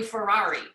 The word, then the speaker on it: Ferrari: It's literally Ferrari, like it's spelled like a Ferrari.